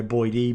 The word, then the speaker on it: Boyd: here my last name's Boyd and weed is a noisy thing therefore single syllable so name they usually go boy d Boyd oh whatever and then